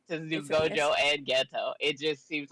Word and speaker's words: Geto: They're going on the backstory with Gojo and Seto. Is that how you say his name? Ooh, Geto?